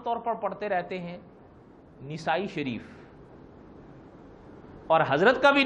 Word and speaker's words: نسائی: پر پڑھتے رہتے ہیں، نسائی شریف. اور حضرت کا بھی نام لیتے ہیں تو کہتے ہیں امام نسائی. حالانکہ بڑا فرق ہے نسائی اور اصل تلفظ ہے اس کا نسائی، نون پر زبر ہے.